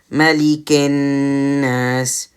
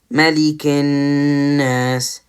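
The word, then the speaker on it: مَلِكِ ٱلنَّاسِ: Now with this med here, that counts as nothing because there's nothing like connected to it, or it's not after anything. So it doesn't really, it's just silent. So with this, remember the gunna here, Malikin Nas, Malikin Nas, Malikin Nas. Again, you can hear the sound of the noon from my nose when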